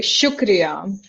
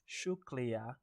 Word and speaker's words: शुक्रिया: So, this is uh we say shukria. Shuklria.